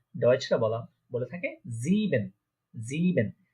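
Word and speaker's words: sieben: দেখেন এখানে আই আগে ই পরে, তো আই আগে ই পরে থাকলে ইয়ে, ইয়ে উচ্চারণ হয়। এখানে ছিল ই আগে আই পরে, তাই এটা উচ্চারণ হয়েছে আই। যেহেতু এখানে ই আগে আই পরে, তাই এটা উচ্চারণ হচ্ছে কি ইয়ে। তাহলে এটা কি হচ্ছে জিবেন, 7কে বলা হচ্ছে জিবেন।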